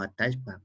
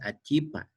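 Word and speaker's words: atallpa: en el sur es atashpa. O sea, ¿con cuál nos quedamos? Es lo que justamente estaba mencionando. Mientras nos mantengamos con la forma de escritura, las tres formas de pronunciación son las correctas.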